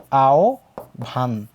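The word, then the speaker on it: আহ্বান: কি আছে আহে আই এই হ এর উচ্চারণটা হয়ে যাবে ও এর মত ব এর উচ্চারণটা হবে ভ এর মত তাহলে আমরা বলতে পারি এটার উচ্চারণ হচ্ছে তোমার আও ভান কিন্তু হয় ব এর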